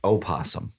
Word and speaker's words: opossum: it's by the way it's opossum that's how you say it did you know